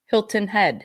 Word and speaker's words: Hilton Head: kids M but yeah they make fun of the way I say Hilton Head they say that I actually pronounce the T Hilton Head Hilton Head it's Hilton Head you say Hilton yeah like the tea is gone Hilton yeah Hilton